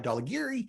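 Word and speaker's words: Dhaulagiri: meter mountains in nepal daligari um dolla geary you already get dinged for not saying it right dolla geary uh michaelou and of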